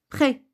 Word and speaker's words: prêt: Si le E précède le S final d'un mot, exemple, prêt, S à la fin, S est une lettre muette que je ne dois pas prononcer. Lorsque j'ai dit prêt, vous n'avez pas écouté S parce que c'est une lettre muette.